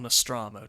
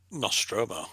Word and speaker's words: Nostromo: nostromo spaceship in alien or nostramo depending how you pronounce it nostromo you pronounce it right this is something i've